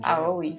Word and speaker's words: Aoi: Aoi. Oh? My brother. Yeah. I heard about Ace. So that's how you pronounce it. Aoi.